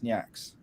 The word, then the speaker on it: Nyx: nah the correct pronunciation the correct pronunciation is nyx there you go i'll